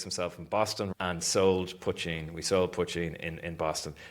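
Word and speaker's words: poitín: Our distributor, who thankfully who agreed to distribute us, they they couldn't pronounce it. We had to phonetically write Potcheen on the bottle, right? Because Americans like, what is it? Poteen, yeah.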